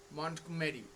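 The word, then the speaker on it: Montgomery: ঠিক আছে, Lucy mod মন্টগমেরি। জিটা silent, silent ঠিক নয়, মানে উচ্চারণটা আনট্রেসড, ওটা ট্রেস দেওয়া হবে না।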